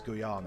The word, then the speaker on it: Guyana: denied that so they went to it is pronounced guano isn't it uh that's good is it you said it right the first time it's guyana okay yeah it's in brazil and it's um